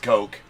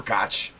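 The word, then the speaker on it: Koch: It is pronounced coke. Looks like It's pronounced coke or cotch.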